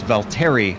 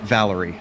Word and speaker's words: Valtteri: really quickly bill that's its Valtteri not Valerie I'm not sure that